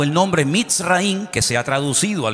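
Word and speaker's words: מצרים: país de Egipto, que en la Biblia se pronuncia Mitzraim.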